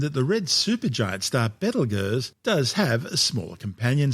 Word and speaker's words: Betelgeuse: Now, if you've never heard of Betelgeuse, it's because these days it's commonly called Betelgeuse, but its name before centuries of tortured mispronunciations started out as Betelgeuse, meaning the hand of the big man in Arabic, the big man being Orion the Hunter.